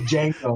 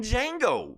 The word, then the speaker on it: Django: And then it shows a picture of Django. The D is silent.